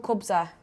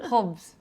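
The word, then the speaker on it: khubz: the bakery is called kubza I don't think I said it properly kubza in English it's like that in Arabic it's written hubs hubs right there we go apologies for the poor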